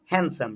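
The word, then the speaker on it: handsome: যেমন হ্যান্ডসাম, D silent. Sandwich, D silent. হ্যান্ড, হ্যান্ড কারচিপ, ডি কিন্তু silent, হ্যান্ড কারচিপ। Grand মা নাই, গ্র্যান্ড মা, ডিটা কিন্তু সাইলেন্ট।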